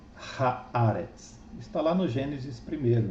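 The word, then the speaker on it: הארץ: Então, o que antes era Eretz, agora será Haaretz.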